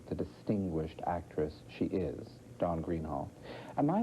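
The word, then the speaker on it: Dawn Greenhalgh: Don Greenhall. Am I pronouncing her name correctly? How do you say it at home? At home we say Don Greenhelch.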